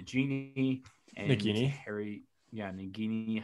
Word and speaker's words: Nagini: and nikki harry yeah nagini however i mean you can pronounce it several different ways definitely nadine i just said the nagini pronunciation and i mean everyone's